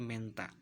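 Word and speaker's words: Mentha: Kemudian huruf T dan H maka diucapkannya H-nya hilang, hanya huruf T-nya saja. Contoh tulisan Menta maka dibaca menjadi Menta.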